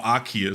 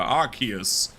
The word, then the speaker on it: Arceus: Or Arceus, sorry. That's how it's pronounced in the trailer. Arceus.